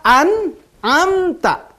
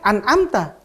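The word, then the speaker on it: أنعمت: banget ya sirotol ladzina an amta ya jangan Ananta anak tapi and on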